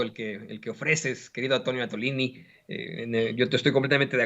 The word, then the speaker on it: Attolini: Claro que sí, soy Antonio Atolini, que se escribe como Atole, pero con doble T en todas las redes sociales. Seguramente por aquí nos van a poner el mensajito, Atolini como Atole, pero con